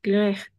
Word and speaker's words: grec: Parce que le C, c'est pas muet à la fin. Quelles sont les lettres muets? Alors, on a vu le E, le H, le S, le T, le P, le X. N'est-ce pas? Mais pas le C.